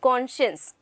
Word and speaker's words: conscience: It is conscience. Fine. It is not conscience या फिर conscious. ऐसा कुछ भी नहीं है. You have to pronounce it very nicely. That is conscience.